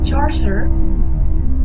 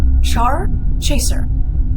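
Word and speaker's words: Charchaser: Charcer, yeah, that's not how you pronounce this name, but I know it. Char Chaser, we're gonna say Char Chaser, is taken aback by one of Lime Spot's comments.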